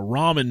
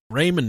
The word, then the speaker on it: ramen: These fucking people are killing over ramen noodles. Ramen noodles, like we call them in Ohio. Yeah. I think it's pronounced ramen, but in Ohio it's ramen. I say ramen.